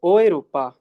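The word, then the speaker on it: Europa: यूरोप में है, यूरोप में है। बट यूरोप को कहते क्या है, इसे यूरोपा नहीं बोलेंगे, बोलेंगे ओएरोपा।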